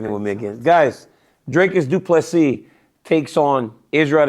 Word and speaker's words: Dricus: So I was when he said Dricus, I started saying Dracus. I was like, he has to be saying it wrong. Dricus. Because he always says Dricus Du Plessis fight this weekend, guys.